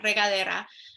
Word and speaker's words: regadera: in Spanish it's uh regadera in Spanish sorry Ivy yeah like regard okay yeah regadera um so at this